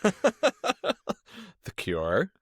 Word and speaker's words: The Cure: this album is also an extended homage to a certain band whose name rhymes with demure. The Cure.